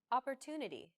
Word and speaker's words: opportunity: important so it's pronounced longer than all other syllables listen to it again opportunity this gives english a machine gun-like rhythm where